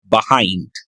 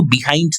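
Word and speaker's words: behind: বাস ওয়াস Son anti and আই ওস last passenger left বাহাইন্ড।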